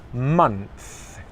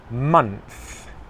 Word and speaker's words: months: months months months okay it's easy to confuse the th sound in this word with the letter F the sound F so here my lip is touching my teeth okay and that I'd say think or free okay it's not months it's months months can you see my